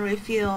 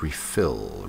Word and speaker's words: refuel: So I can refuel my brain. It's refuel, not refill.